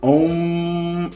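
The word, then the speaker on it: Aum: And the syllable that's linked to this one is om, A-U-M, om.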